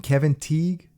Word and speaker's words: Kevin Teague: So this one is called Cutting Cards with Lance Henriksen and Kevin Teague.